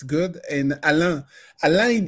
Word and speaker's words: Alain: it's good and alan alain is very complicated alain is complicated in english because the the sound a in french we say